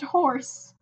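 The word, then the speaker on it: Juorse: It is pronounced horse.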